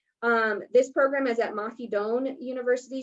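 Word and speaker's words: Mahidol: this program is at mahidone university so the l is pronounced like an n in their language um and it's actually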